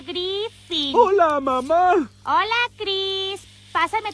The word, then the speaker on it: Griffin: Se pronuncia Griffin.